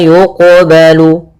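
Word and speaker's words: يقبل: Ini qalqalah sugra yaitu kita membacanya tidak boleh ada sakta. Tidak boleh mantul. Maaf tidak boleh tidak mantul. Harus berarti harus mantul. Yang ketiga tidak boleh tambah hamzah.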